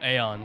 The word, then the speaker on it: Aeon: feed the new Eon oh aeon so it is aeon yes people kept saying Eon I thought I was saying it wrong wait why'd I get